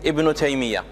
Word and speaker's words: Ibn Taymiyyah: The proper pronunciation is Ibn Taymiyyah.